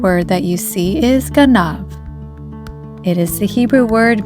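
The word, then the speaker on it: גנב: The second word that you see is ganav. It is the Hebrew word meaning a thief. Ganav is spelled with the following letters of Gimel, Nun, and Bet.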